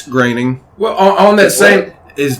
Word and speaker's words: Groening: groening did it and it is superb it's graining well on that same his name is pronounced grading grading no i had a quiz bowl question